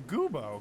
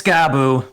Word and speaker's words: Gabu: Where's Goobo? Goobo! I'm right here, and it's Gabu. Gabu. It is. As Gabu just kind of flutters down from the roof, the ceiling. I love that we get his name wrong every single Well, here's the time. deal. In the video game Croc, it makes me think of Gabos. Gaboo. And so I'm Gaboo. like, it's not Gabos.